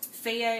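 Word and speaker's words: Fage: Feya is really good, which is spelled F-A-G-E.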